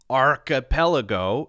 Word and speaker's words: archipelago: You've got CH as K, as in archipelago.